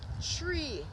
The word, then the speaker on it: three: so when we're saying three the number three when we're when we so when we're saying three the number three it will sound like we say tree it will sound like